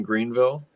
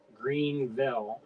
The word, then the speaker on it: Greenville: That's in Greenville. I called it Greenville, and they said no, that's not how you say it. Greenville.